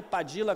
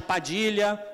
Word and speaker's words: Padilla: Twitter próximo próximo underline padilla com dois L sempre esquecendo os dois olhos né Né que é de origem espanhola né mas você pode chamar de Padilha pode chamar de e